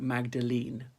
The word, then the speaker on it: Magdalene: Magdalen College, then it's spelled like the Oxford Magdalen, they got an E on the end. So it spells like Magdalene, right?